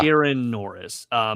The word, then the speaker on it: Ciaran Norris: The original team consisted of Jay Howell, who did the original character designs, and I always pronounce his name wrong. Is it Ciaran Norris? Yeah, Ciaran Norris, who created the backgrounds.